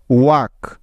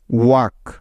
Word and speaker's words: walk: Next কে এর আগে এল সাইলেন্টের কিছু উদাহরণ। যেমন টক, TALK, টক। ওয়াক, WALK, ওয়াক।